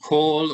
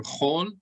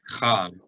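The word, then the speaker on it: כל: The word kol or chol, even in modern Hebrew, they never pronounce kamatz like a patach, like chal or kal.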